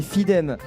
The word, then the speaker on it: Fidem: Eo, la fanfare Eoley, c'est comme ça qu'on prononce Etyon Yonle. Eyonle. OK. Nous aurons Fidem, on m'a dit que c'était Fidem sur la petite scène.